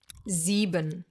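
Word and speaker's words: sieben: Zeban. Perfect number to repeat some of the things we already learned. S at the beginning of a word pronounced as a Z.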